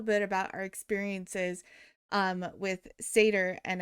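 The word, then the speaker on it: Seiðr: about our experiences with Seidr, and I believe that you've also heard it pronounced as Saith.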